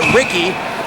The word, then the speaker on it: Ricci: Spelt like Ricci, but pronounced Ricky.